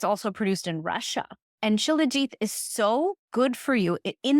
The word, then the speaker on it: shilajit: Shilajit. Yeah, Jeet is like I pronounce it Shilajit, but everyone pronounces it in the West right now Shilajit.